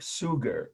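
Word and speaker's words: Suger: his name was Bishop sugar almost like the word sugar but spelled s u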